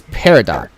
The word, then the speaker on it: peridot: yours is Peridot.